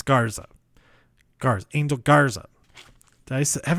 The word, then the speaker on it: Garza: there's oniy and Alberto versus the lone ángel garcía angel guard oh my god like Garcia it's Garten it's garza car's angel garza dice have evidence did I